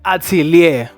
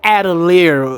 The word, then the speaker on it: Atelier: Which Hat Atelier or Atelier, whichever way you want to pronounce it, both are correct.